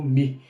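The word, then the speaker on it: μῦ: essa diferenciação de pronúncia a gente pronuncia como mi e não como m ou no ok uma gramática que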